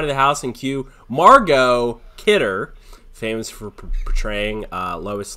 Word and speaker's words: Margot: has a T at the end of it. It's Margot.